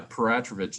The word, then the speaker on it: Peratrovich: And but yeah, Peratrovich is how we pronounce it, and it's funny. It's a Russian name because there's a history of Russians in southeastern Alaska and Alaska in general.